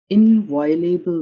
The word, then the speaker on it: inviolable: Im- Impervious to desire and doom and hope, their station of inviolable might, moveless upholds the world's enormous task.